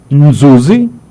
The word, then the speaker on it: Nzuzi: Para o pessoal que quiser, nós estamos conversando com Nzuzi, acertei? E o N não se pronuncia, dos.